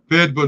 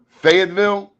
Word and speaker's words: Fayetteville: Fayetteville, North Carolina. Fayetteville? Fayetteville, North Carolina. Oh, that's how you say it down there.